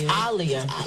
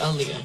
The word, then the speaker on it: Aaliyah: forgetting i i i i used to get a lot of liars oh it's alia i say earlier yeah well people got